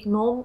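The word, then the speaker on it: gnome: तो, अम्ब्रील नाम का एक रहस्यमय बौना प्रकट होता है—यहाँ 'g' साइलेंट है। ग्नोम एक काल्पनिक प्राणी है जो बौना होता है।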